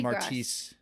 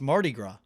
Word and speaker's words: Mardi Gras: Mardi Gras before we started taping uh cat pronounced it like Marquis no you didn't it was like Mary Marty Mardi Gras you pronounce it so badly what is it like it's Marty it's Mardi Gras I feel it what does that mean what